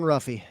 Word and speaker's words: Ruffy: And Mauricio, I think it's pronounced Huffy, actually. I think Mauricio Huffy. Uh or I'm white. I'm white. I'm saying Ruffy.